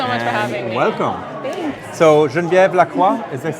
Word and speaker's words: Genevieve Lacroix: So Genevieve Lacroix, is this how you say your name? Yes, that's right. So you are French, I believe, right? Yes. Okay. So that's perfect pronunciation. Yes. Genevieve Lacroix.